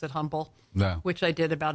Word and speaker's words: Humble: it's parallel Terrell and instead like humble it's not humble humble oh I learned that